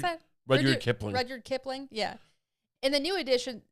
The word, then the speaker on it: Rudyard Kipling: She went to Africa with Ernest Hemingway and to India with Rudyard, how do you pronounce that? Rudyard Kipling. Rudyard Kipling, yeah.